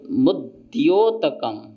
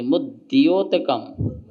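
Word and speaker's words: मुद्योतकम्: तो मुद्योतकम, हाँ, दा और या दोनों को उच्चारण चाहिए। मुद्योतकम, दलित पाप तमोवितानम, सम्यक प्रणम्य जिनपाद युगम युगादा, युगादा वालंबनम भवजले, भवजले पतताम, पतताम जनानाम।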